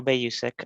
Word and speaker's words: Bayusik: I think it's Bayusek, is how you pronounce the name? Okay, good evening. Yeah, hi. Yeah, you got my name right. It's Bayusik.